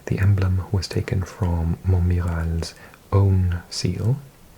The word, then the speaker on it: Montmirail: The emblem was taken from Montmirail's own seal. Actually, I think I mispronounced it. It's an I-L, but it's dark in this room. Montmirail, I think.